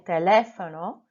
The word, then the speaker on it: teléfono: Number 7, I didn't put the emphasis on my accented E, so it should have been teléfono.